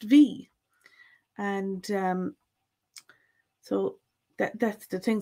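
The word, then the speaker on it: bhí: A good example of this is the verb V. BHI for the V, was. And doesn't matter which dialect, it's always going to be pronounced V.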